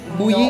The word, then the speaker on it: Mboui: On prononce pas le N. Bouilly.